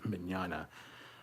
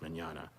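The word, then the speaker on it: Mignogna: our vik manana interviews i hate his last name minyana i always used to say it wrong i finally got it right it's manana anyway check them out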